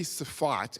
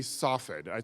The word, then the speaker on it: Safed: I actually don't know how to say it in English because Americans and Brits don't like words that start but it might be Safat, and it might be Safed.